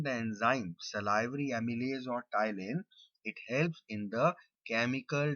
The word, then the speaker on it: ptyalin: is also known as ptyalin. P is silent, it is read as ptyalin.